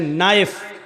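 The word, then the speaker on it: knife: श बोला नहीं जाएगा जैसे इंग्लिश में नाइफ इसको कहते हैं चाकू को नाइफ के माना चाकू लेकिन के लिखा जाता है बोला नहीं जाता वो साइलेंट रहता है नी मानी घुटना इंग्लिश में नी मानी घुटना लेकिन के लिखा होता है लेकिन बोला नहीं जाता पढ़ा नहीं जाता ऐसी अरबी जबान में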